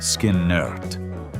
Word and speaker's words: Skynyrd: The result was their debut album, pronounced Luh-nerd Skin-nerd, released that September on MCA Records.